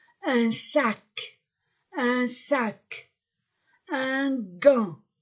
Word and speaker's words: gant: sac un sac un gant gant je ne prononce pas le T un gant une cravate une horloge